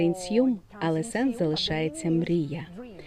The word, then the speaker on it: INSIUM: Інсм означає мрія. Ми змінили наголос, оскільки іноземцям важко правильно прочитати його, тому тепер це нсм, але сенс залишається мрія.